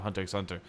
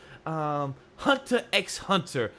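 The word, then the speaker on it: Hunter × Hunter: Hunter x Hunter, or people don't pronounce the X, so I'm sorry.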